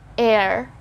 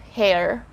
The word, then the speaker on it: heir: it's a silent letter so we just say air air and not hair okay let's have the